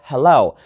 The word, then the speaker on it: hello: some syllable for example we have the word hello so the stress is on the second syllable right hello not hello we don't put the stress on the first one so we say hello and in every single